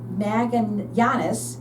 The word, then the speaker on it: Magallanes: And then Magallanes, I said it right.